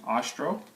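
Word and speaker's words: Ostrow: book is Scott a Austral last name is spelled OS t ro w and he's a former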